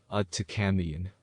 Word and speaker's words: Aaiyyan: This is the whole yantra, and it is pronounced Aaiyyan.